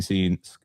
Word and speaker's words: scenes: Uh looking at it, yeah, dark dark dark scenes. Sorry, I I pronounced the C in scenes there. I don't know why I did that. Flashing scenes flashing lights, confined spaces, and sharp turns and drops.